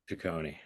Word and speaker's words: Ciccone: Next person would be Ashley Semrick, to be followed by Patrick, is it Ciccone or Ciccone? Ciccone. Thank you.